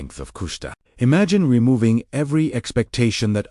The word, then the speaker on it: Kushta: Because his life was anchored in kushta pronounce kush meaning truth, authenticity, or that which is real.